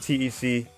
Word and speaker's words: Tec: four from last night starting it with Tec or Tech depending on how you want to uh pronounce it and dash are